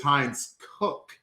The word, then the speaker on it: Heinz Cook: We got a pronunciation. It is Heinz Cook, and he says good evening.